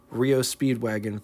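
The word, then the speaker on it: REO Speed Wagon: In 1915, the legendary Rio Speedwagon first appeared, not to get confused with the band by the same name, but they pronounced theirs REO Speedwagon.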